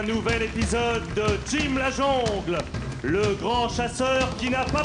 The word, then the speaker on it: jungle: Je connais la jongle -Pourquoi dites-vous jongle et pas jungle ? -On prononce jongle, Diana. -Mais on ne dit pas mesclon.